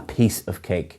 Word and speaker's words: piece of cake: And again, the pronunciation is a piece of cake. You're stressing piece rather than cake.